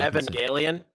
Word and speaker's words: Evangelion: I'm not going to pronounce it because I'll mess it up. Or either one of y'all. Evangelion.